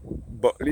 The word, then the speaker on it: Bulkeley: George Valley, looking straight into Buckley. You'll come across the Buckley Sugar Factory, which ceased operation in 2002. Buckley is spelled Bulkeley. Some may spell it Buckley, but it's Bulkeley. That's where my grandmother used to work.